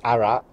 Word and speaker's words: Arras: in the war um you don't pronounce the S on some French names so it's arat and then obviously if